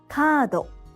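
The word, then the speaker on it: カード: In this case, the vowel a in ka should be twice as long to get kado.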